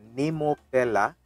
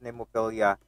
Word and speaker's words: Nemophila: pronounce it properly because i was corrected by our supporter or supporter with the the nemo fella because i was pronounced nemofilia yesterday or my first video reaction to them so thank you so much